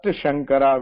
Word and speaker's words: Shankara: First Shankara will be like the show. Shivasha. It will be pronounced as Shankara.